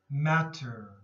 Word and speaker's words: matter: halfway here provider provider matter matter sometimes the t's here in the middle have more of a d sound matter matter okay correct